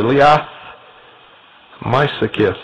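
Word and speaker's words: Liath Meisicith: and this brooch was called the Liath Mysakith, and I believe that I pronounced that sort of right. It's spelled L-I-A-T-H, the second word, M-E-I-S-I-C-I-T-H.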